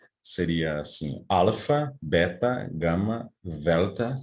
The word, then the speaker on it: delta: Aqui está o alfabeto grego, eu vou pronunciar com com a forma Koiné, seria assim, alfa, beta, gama, delta, com a língua entre os dentes, epsilon, zeta, eta, theta, também interdental, iota, kappa, lambda, mu, como um i francês, né?